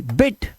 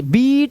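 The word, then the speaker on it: bit: अब देखो ब आई टी, बिट, इस तरह से तेज, बीट नहीं करना, बीट माने पीटना होता है, और बिट, बिट मतलब थोड़ा, ठीक है, इस तरह से इनको सही से प्रोनाउंस करना है, नहीं तो मायने बदल जाएंगे।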